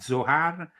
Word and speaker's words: Zohar: Then there was of course you know the Zohar became the book that kickstarted this interest.